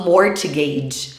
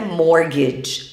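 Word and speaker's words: mortgage: morde eu ouvi muitos brasileiros no exterior falando morte games ou Morte gás mas a pronúncia correta morde a gente não pronuncia esse ter que tem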